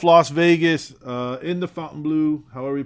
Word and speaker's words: Fontainebleau: Vegas uh in the fountain blue however are we pronounce that place too Fountain Fountain it's not Fountain it's Fountain Blue um that's it thanks